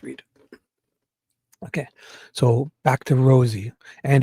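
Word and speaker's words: Rozzi: He spelled it R O Zi and he said Rosie like a like a rose, like a flower.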